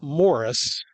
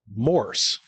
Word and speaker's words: Morse: And for I think 45 years of my life, I was mispronouncing it. I was saying Morse code. It's not Morris. It's one word, Morse. M-O-R-S-E.